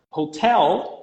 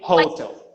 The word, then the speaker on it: hotel: change it in english for example the word hotel hotel is always has a stress in the same syllable both in english and in portuguese but students tend to say hotel or hotel yeah yeah yeah i